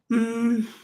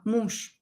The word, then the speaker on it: муж: Муж. Муж. You can hear that here I pronounce je as sha, muž.